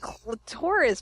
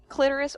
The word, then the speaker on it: clitoris: It's clitoris paper. Yeah. Clitoris or clitoris, however you like to pronounce it, depending.